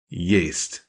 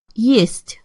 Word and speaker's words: Есть: If I were to sound that out using English letters, I'd spell it Y-A-Y-S-T. Yeast. Listen one more time. Есть.